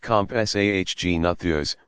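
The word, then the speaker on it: Compsognathus: the smallest of them may have SOG natha's pronounced compás AHG nathers which was only about as big as a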